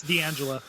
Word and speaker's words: D'Angelo: of the cast you regularly use, and that's D'Angelo Midili, who is just, I don't know if that's how you pronounce his name, D'Angelo, is it? D'Angelo Midili? Yeah, it's D'Angelo.